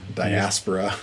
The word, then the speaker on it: diaspora: people, as they were, I always mispronounce it. My friend Isaac always gives me a hard time when I say diaspora. It's diaspora. Diaspora. But yeah, when they when